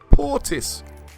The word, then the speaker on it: Portis: So actually, if you look at the red parts, this is how you say the name. Portis. Portis.